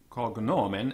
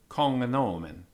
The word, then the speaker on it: cognomen: The Latin GN, footnote 6 first, after a vowel, has been supposed to have the sound of hngn, so as in hangnail. So regnum, being pronounced regnum. Cognomen as in cognomen.